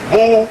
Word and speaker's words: Boule: Known as Boule, pronounced Boule.